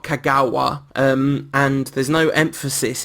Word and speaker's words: Kagawa: So it is not kagawa. Um and there's no emphasis in Japanese apparently. Or there's no emphasis in kagawa anyway. So you just hit all the syllables equally.